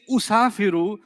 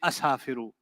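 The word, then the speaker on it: أسافر: So if they say usafiru, means I travel, you don't get to say one day I'm in the mood to say asafiru. That's Punjabi, that is not Arabic.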